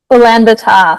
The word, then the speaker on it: Ulaanbaatar: How do we pronounce it, Lisa? Ulanan? Ulaanbaatar.